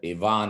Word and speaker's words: Ivan: is an initial it yvonne is spelled just like ivan last name is